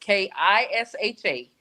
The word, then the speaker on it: Kisha: official Keisha and my name does not have a E in it. It's just k i s h a. I guess people pronounce it Kisha.